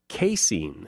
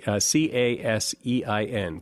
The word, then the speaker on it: casein: Well, there's a chemical in cheese called casein. I think that's how you pronounce it, C-A-S-E-I-N, casein.